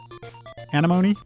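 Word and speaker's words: Anemone: the sd card slot it rhymes with enemy oh anima animony got it this sounds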